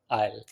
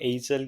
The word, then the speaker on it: aisle: Now this is not called एजल या इसे लोग बहुत मिस प्रोनाउंस करते हैं। When I वाज in IELTS I used to take the speaking and ये बहुत मिस प्रोनाउंस वर्ड होता है। सो इट is called आयल, a long narrow walkway and इट is pronounce eight आयल।